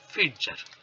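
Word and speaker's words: Pfitzer: ঠিক আছে, আরেকজনের নাম হচ্ছে ফিটজার, পিটা সাইলেন্ট, হ্যাঁ, ম্যাকডোনাল্ড ফিটজার্স।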